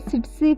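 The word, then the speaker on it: tsetse: ये सिट्सी फ्लाई होती है, TSE इसकी स्पेलिंग है. फर्स्ट वाला टी साइलेंट होता है, उसमें जो है ये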